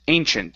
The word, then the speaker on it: ancient: is the word ancient instead of Ancient Ancient Ancient use a CH sound there and it's a long a at the beginning an Ancient Ancient okay